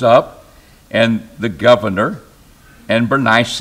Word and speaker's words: Bernice: and the governor and Bernice or benice benice is what how my Bible trans pronounces it but I said that